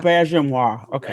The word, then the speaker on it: Auberjonois: Auberjonois, okay, thank you.